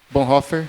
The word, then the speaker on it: Bonhoeffer: que é um teólogo, chama Dietrich Bonhoeffer. Bonhoeffer, essa é a pronúncia.